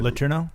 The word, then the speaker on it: Letourneau: Letourneau?